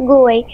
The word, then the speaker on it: GUI: computer with a graphical user interface, or GUI, pronounced GUI.